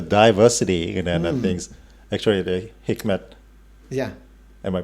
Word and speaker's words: Hikmet: Speaking of that, the diversity and things, actually, the Hikmet. Yeah. Am I pronounced correctly?